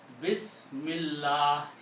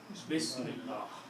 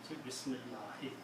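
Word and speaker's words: بسم الله: If you are going to stop, then you don't pronounce the last harakat. You just say Bismillah, Bismillah, Bismillah. But if there is a word after that, Bismillahi.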